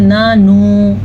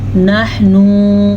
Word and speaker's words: نحن: قال الحواریون نحن، نحن اکثر لوگ پڑھتے ہیں نانو، نحنو نہیں، نحن. ہا کے تلفظ کو بھی نکالنا ہے درست طریقے تلفظ سے اور آگے اخفا کرنا ہے.